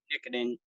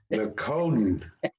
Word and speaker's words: Nicodem: nicotine. Nicodin. Oh, Nicotine, yes, You sir. mean just like it's spelled? Just like it's spelled. That's correct.